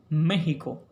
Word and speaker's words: México: Lo adecuado es que esa X en estos topónimos mantenga su valor como fonema J. Lo propio es México, Texas y por supuesto